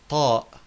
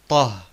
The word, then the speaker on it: طاء: Next, we have the letter طاء. طاء, and often also called طه. طه, but formally we say طاء.